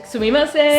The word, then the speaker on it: sumimasen: Excuse me, how do you say Sumimasen.